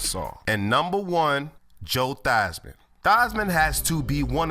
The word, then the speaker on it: Theismann: this show this man changed his name in college from Joe Theismann to Joe Theismann to make it rhyme with Heisman which is what he